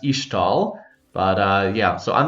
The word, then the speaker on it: Ixtal: I believe it's pronounced Ishtal, like the X being pronounced like an SH, but I could be wrong. Could just be Ixtal, but I think it's supposed to be pronounced Ishtal.